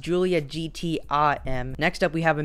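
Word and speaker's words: Giulia GTAm: new julia gta m it's actually pronounced julia gtim next up we have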